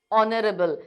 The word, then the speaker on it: honorable: We are not saying honest. We are saying honest, honorable.